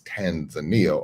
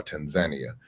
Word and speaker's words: Tanzania: So the two of them merged and created the country we know as Tanzania or Tanzania, just depending on who's making the pronunciation.